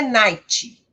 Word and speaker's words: night: E tomem cuidado para não colocarem som de vogal aqui no final. Não é night, é night, bright, fight.